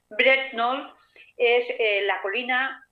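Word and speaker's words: Brent Knoll: ver, como por ejemplo Bret Knoll, o se escribe Bret Connell, con una K de kilo que no se pronuncia. Bret Knoll es la colina o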